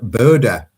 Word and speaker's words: Bodø: And Simon, you are in Bodø, and is that the official pronunciation? I think that is.